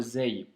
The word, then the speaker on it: ز: C'est comme le Z en français, donc c'est le son Z.